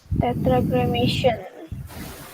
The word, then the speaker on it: Tetragrammaton: Tetragrammaton. Bukan cremation, gramaton. Oh, gramaton. Ini bacanya tetragrammaton ya.